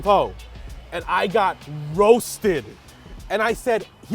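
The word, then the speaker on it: phở: And so on Kim's Convenience, there's an episode where I'm supposed to say pho, but I say pho. Let's get some pho.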